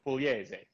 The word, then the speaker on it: Pugliese: There's no right way to say my name in English because it's an Italian state called Puglia. So okay. My name is Pugliese. But I tell everybody Pugliese.